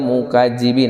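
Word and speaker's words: المكذبين: Wailun yawma idzil lil mukazzibin, lil mukazzibin, ujung lidah masih nempel ke gigi seri yang tengah, jadi baca huruf za. Lil mukazzibin ya bacanya ya, jalil mukadzibin, jadi jangan jadi z.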